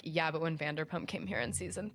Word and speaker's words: Vanderpump: I did watch a lot of Vanderprompt. Yeah, I I I watch a lot of Vander what how do you say it? Vanderpump.